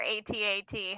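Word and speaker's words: AT-AT: last few days um I say atat but I'm aware that it's technically at at I think I say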